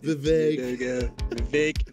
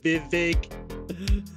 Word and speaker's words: Vivek: Vivek. Vivek. Listen. Did I pronounce it wrong?